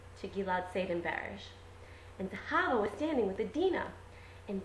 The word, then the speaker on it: Zahava: But this teacher couldn't say Zahava, she could only say Zahavia, which was really weird because that's the Ch, and it's a misplaced Ch.